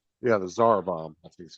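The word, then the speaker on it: Tsar Bomba: Yeah, the Zarbomb. That's how you pronounce it.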